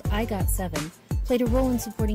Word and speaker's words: IGOT7: A steadfast and growing fan base called IGOT7 played a role in supporting this journey. When pronounced in Korean, IGOT7 sounds like the term agase, or baby bird.